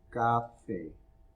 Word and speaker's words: café: capital, va al café, no café, no café tampoco, es café, con acento en la E, with an accent on the E.